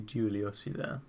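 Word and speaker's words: Giulio Cesare: How do you actually pronounce that? Julio Cesar. Yeah, it is the Julio Cesar.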